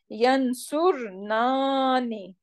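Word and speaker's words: ينصرنانّ: not dropping this noon, the problem is how we can pronounce three noons together. Right? Any idea how we can pronounce three noons? It's not possible, right? So that's why we need to bring this alif in between. So it will become Yansurnani.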